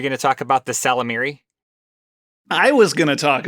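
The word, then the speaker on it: Ysalamiri: And in that trilogy, there were these creatures, I think it's pronounced Salamiri. It's got a Y at the beginning, but I assume it's silent.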